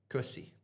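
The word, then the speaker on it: köszi: Ko- Kusi. Kosi. So the O has two dots on it, and we pronounce that as an U.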